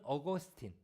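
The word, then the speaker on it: Augustine: 어거스틴, 그러니까 미국식 발음으로는 어거스틴, 그리고 그분의 원래 이름은 아우구스티누스, 라틴어예요.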